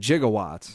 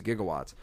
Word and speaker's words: gigawatts: you seen there's a he said jigawatts jigawatts gigawatts through the whole movie it's like 1.21 gigawatts but it's you know it's gigawatts but have you seen this